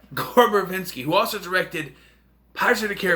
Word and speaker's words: Verbinski: Gore Verbinski, who also directed Pirates of the Caribbean franchise, which the first movie in that franchise is my favorite of the franchise.